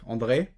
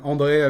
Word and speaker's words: Andre: And today I'm lucky to be with André, or actually I'm saying it in French here. Do you say it like also André like this or Actually, I don't. I just say it Andre.